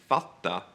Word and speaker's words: fatta: So the word hitta, to find, is hida, or the word to understand, fatta, is fada, or titta, look, tida.